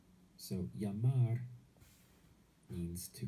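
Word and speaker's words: llamar: in spanish is jamar yamar this double l always gets pronounced as a y in spanish so you can imagine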